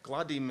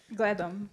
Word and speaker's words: gledam: Gladim is how you say I see. Gledam.